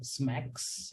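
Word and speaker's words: SMACSS: that could be used is smacks I mean it is pronounced as Mac but it is SMS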